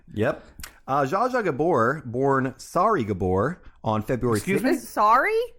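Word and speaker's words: Sári: uh joshua gabor born sorry gabor on february sorry s-a-r-i okay sorry gabor uh with an accent on the a c siri i'm going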